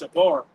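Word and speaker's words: שבר: That word broken there in the Hebrew is pronounced shabar.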